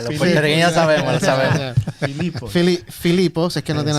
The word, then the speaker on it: Filipos: Filipos. No tiene acento en la O, pero... ¿Ah? No, Filipos. Una palabra llana.